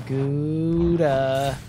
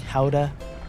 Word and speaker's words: Gouda: You'd make a real quick strike is Gouda. Gouda, Gouda, Gouda. You know it's pronounced, isn't it pronounced like Howda or something?